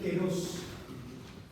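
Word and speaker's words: καιρός: Está la palabra se pronuncia keros. El griego es como el inglés, se escribe de una manera y se pronuncia de otra.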